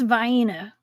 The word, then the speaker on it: Vienna: I'm going to forever ask everybody that comes on my channel what how they pronounce Vienna sausage. It's Vienna.